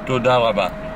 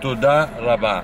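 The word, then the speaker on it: תודה רבה: How do you say thank you? Thank you in Hebrew. In Hebrew? Toda raba. To all that? Toda raba. It's thank you very much. Toda raba.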